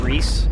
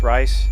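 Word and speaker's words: Rhys: Reese. I thought it would be pronounced Rice. It is pronounced Reese.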